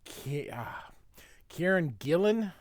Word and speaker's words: Kieron Gillen: It is written by Kieron Gillen, I believe is how you say his name, with art by Adam Kubert.